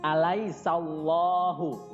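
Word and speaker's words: أليس الله: Nah, Cara membacanya alaisallahu. Nah, di situ alaisanya dibaca biasa, kemudian huruf sa-nya langsung masuk ke lafaz Allah, ya. Jadi di situ ada lam jalalah. Alaisallahu, di situ harus tebal, ya, dan dibaca panjang 2 harokat.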